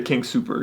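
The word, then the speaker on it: King Soopers: Yeah, and you say King Super. You don't say the S at the end, and that really annoys me.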